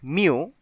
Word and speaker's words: mu: It is a Greek letter and in English it is pronounced mu, and this is the symbol for population mean.